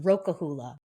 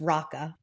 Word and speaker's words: Roka Hula: Roka Hula, which looks like it should be pronounced Roka Hula, but it's Raka, I learned, Okay.